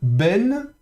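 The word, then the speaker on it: בֵּן: En tout cas, euh donc ici, on a Ben. Donc de nouveau le bê avec le térer qui se prononce est comme dans euh il est donc ben euh avec le noun final ici, hein.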